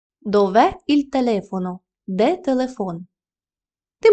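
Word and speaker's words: dove: займенник дове та е дове наголос падає саме на е дове Іль телефоно де Телефон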